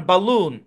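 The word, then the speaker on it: balloon: sound না এই শব্দের উচ্চারণ বালুন এখানে এ সো সাউন্ড দিবে তো আপনার সামনে যখন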